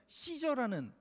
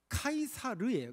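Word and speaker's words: Caesar: 뭐냐면 여러분 영어에 보면 저라는 그 인물이 있죠 그 시저는 인물의 라틴어 발음이 카이사르에 카이사르 그래서 그 카이사르는 이름이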